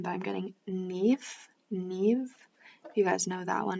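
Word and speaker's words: Niamh: is an interesting name but i'm getting neath neve you guys know that one it's spelled like n-i-m-h so that could be your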